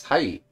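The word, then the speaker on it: はい: Remember how e sounds more like e? Yes, so it's hai.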